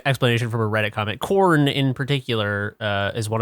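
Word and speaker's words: Khorne: Freak on a Leash I can't imagine that it's pronounced anyway other than corn but with like a hard with like a hard hidic like corn corn cool yeah yeah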